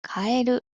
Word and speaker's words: カエル: 正解はカエる。変えるです。日本ではカエルはカエルと同じ読み方なので発音は違いますけどね。